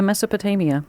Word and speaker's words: Mesopotamia: this word because it's got more than three syllables. If you go back to ancient Mesopotamia, am I saying that right? Yeah. Mesopotamia.